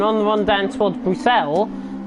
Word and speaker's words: Bruxelles: the run down towards Bruxelles, which is the right pronunciation I've known for that corner, not Brussels as I like to call it, but Casper 1.2 seconds